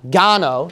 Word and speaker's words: Gano: I think his name last name is pronounced as uh Gano so we'll put John